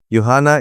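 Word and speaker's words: يوحنا: Yuana is the Arabic pronunciation of John the disciple of Jesus.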